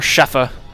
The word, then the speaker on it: Schaefer: did not know Max Schaefer the Schaefer brothers and and so on or sheffa as you would actually pronounce it in German as it happens I